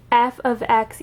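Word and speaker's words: f(x): y equals you would write something something like f ofx equals and that's how you pronounce f parentheses x it's called f of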